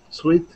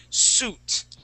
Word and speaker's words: suit: seven please number seven sweet sweet okay that's gonna be suit suit suit there you go sweet has an e at the end okay so class that's how